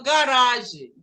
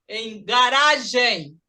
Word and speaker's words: garage: Por exemplo, a palavra garagem, garagem, em inglês seria, por ser trissílaba, quase sempre a primeira sílaba, deveria ser garage, mas não é. Por ser francesa, a gente fala garage, garage.